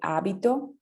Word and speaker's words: abito: Tener el hábito, ¿sí? Pero hábito en italiano con el acento en la A se refiere a habitar, ¿sí?